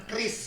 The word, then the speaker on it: QRIS: Chris. Oh, bacanya Chris Chris, ya. bacanya Chris.